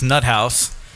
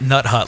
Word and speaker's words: Nuthouse: So we are joined by Dottie from Vikki's Nuthouse, not Nut Hut like I just said.